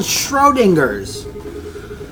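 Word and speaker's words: Schrödinger: How do I pronounce that? It's called Schrodinger's.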